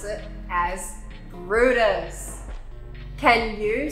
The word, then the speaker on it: Bryde's: a little bit funny even though it looks like brides with a y we pronounce it as brutus can you say brutus the haraki gulf is